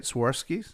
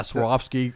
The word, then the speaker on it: Swarovski: Sorskis. Yeah. Swarovski crystal staircase.